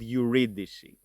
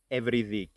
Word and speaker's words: Eurydice: of orus and uidic orus and uidic are names and this is the English pronunciation of those names in modern Greek we pronounce them as oras and every oras evi and this is the pronunciation I will be using in this video let me then introduce